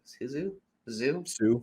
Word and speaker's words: Hsu: um Stephanie uh Isuzu it's Hsu zoo I think it's pronounced um she's fantastic at